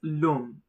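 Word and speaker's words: l'homme: Notice h is silent and therefore the l gets connected with the o. So pronounced as lom the man.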